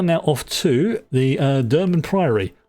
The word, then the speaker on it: Durmand Priory: So we are now off to the uh Dur priaryy. And I remember to say it correctly this time, not the Drummond Priy like I've been saying to myself for years.